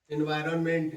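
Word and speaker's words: environment: एम इ एन टी एनवायरनमेंट एनवायरनमेंट न silent हो जाता है एन साइलेंट हो जाता है एनवायरमेंट बोल देते हैं उसको पर्यावरण या पर्यावरणम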